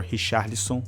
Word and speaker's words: Richarlison: I mean, just my humble opinion, conceding a goal to Richarlison, or Richarlison, that's how you say it in Portuguese, it's not good, man.